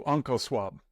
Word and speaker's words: OncoSwab: So OncoSwab, am I saying it right?